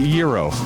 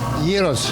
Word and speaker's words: gyro: Is it gyro or is it gyro? Gyros, yes. Traditional Greek, and they take the name over this. In Greek way, they call it around. In Greek, it's gyro.